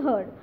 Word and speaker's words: herd: Second, the farmer crossed the road with his herd. Now H-E-R-D, herd. Again, the pronunciation is same, but word is different.